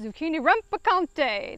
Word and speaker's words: zucchini rampicante: And when you say it, you must say it with zest. Zucchini rampicante. That is the proper way to say it.